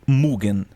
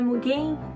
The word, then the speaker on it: Mugen: E de repente caiu no meu colo Mugen. Pesquisando aqui na internet, essa é a pronúncia mais próxima que tem de certo. Se você quiser. Droga. Então o Mug do Sator não é mugem, é mugen.